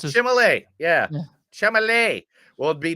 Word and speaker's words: Chalamet: It's a Chalamet.